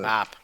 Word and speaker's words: Mab: mispronounce it. Map.